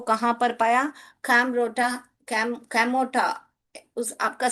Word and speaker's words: Kamorta: इसको कैसे पढ़ने का? कैमोटा। ओ आर जो है वहां पर नहीं पढ़ना है हमको, कैमोटा।